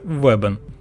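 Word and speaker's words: wbn: уточнити що йдеться про вбн промовляється вебен адже легше вимовляти з голосними і це значить світить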